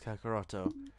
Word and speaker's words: Kakarot: And just to clarify on everyone, the actual name for Kakarot is Kakaroto, because like it was a error on or translation error. So yeah. The pronunciation is Kakarot, but the wording is Kakaroto.